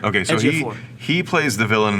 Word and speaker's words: Ejiofor: Ejiofor. Okay, so Ejiofor.